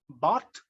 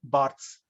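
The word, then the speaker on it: Barthes: comes another critic Roland Bart in French it is pronounced Bart in English we say Roland Barts or rol D isent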